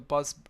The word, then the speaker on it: bus: So you have the word bus b u s and then you have the word boss b o ss. If you're not careful with these two vowel sounds, short vowel sounds, then